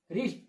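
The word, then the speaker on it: wrist: क्या पढ़ेंगे, राइट, wrong, रिस्ट, रेथ, wrinkle, Regal. देखा किस तरीके से उच्चारण होगा, यानी जो ये डब्लू है ये क्या होगा हमारा, साइलेंट लेटर होगा।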